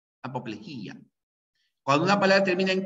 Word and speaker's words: apoplejía: correctas y a salvo la palabra apoplejía que solo se pronuncia Así apoplejía cuando una palabra termina